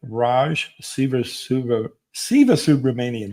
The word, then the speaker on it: Raj Sivasubramanian: So with that, I'd like to stop for a moment here and have Raj Sivasubramanian. Did I pronounce that right? Because I got it right. That's all right. You got it.